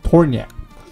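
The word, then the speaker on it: Tornjak: national animal it's a tourniquet that's how you pronounce it yeah tornya the torniak is the national animal of bosnia it is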